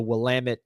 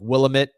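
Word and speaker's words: Willamette: I got a I got a shirt from the the Wamit Valley Winery. It says uh it's Wamit. Damn it. Because a lot of people say like like Willamit or they pronounce it wrong, but it's Wamit.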